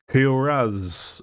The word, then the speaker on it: Kuraz: Kuraz. Is it Kuraz or Koraz? Kuraz.